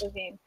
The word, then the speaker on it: Levine: Ken Levine, that's how I pronounce it. Levine. That sounds better.